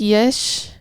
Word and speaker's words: Yash: ನನಗೂ It's pronounced like Yesh.